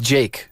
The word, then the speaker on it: JVKE: singer songwriter Jake uh it's pronounced Jake but it looks like jvke and Brazilian singer songwriter